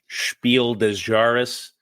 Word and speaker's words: Spiel des Jahres: No wonder this thing won the 2011 Spiel des Jahres. Yeah, did I pronounce that right? Perfect, spot on.